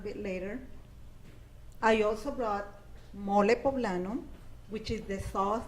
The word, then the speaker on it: mole: I also brought mole poblano, which is the sauce that is very What's it called? Mole. Mole. Yes, that made with chocolate? It's spelled like mole. Yeah, mole. M-O-L-E. Mole, like a mole.